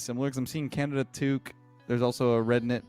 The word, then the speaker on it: toque: how you think it would be it's like t o qu E I think and I I believe no no toque it's spelled t o qu u e and yeah